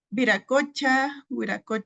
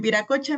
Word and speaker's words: Viracocha: Y bueno, eh viracocha, miren, es que eh no pude homogeneizarla dentro de la presentación, pero aquí lo tengo con V, pero al principio con W se va a pronunciar igual.